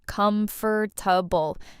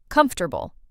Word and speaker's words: comfortable: A lot of learners say every letter, comfortable, but native speakers say it shorter. Comfortable. Three parts, not four.